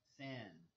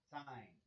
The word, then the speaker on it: sin: write this one as Sin except for we pronounce it as sign instead of sin okay and then we